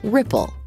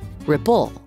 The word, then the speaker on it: ripple: The first syllable of ripple is stressed, so we say ripple, not ripple.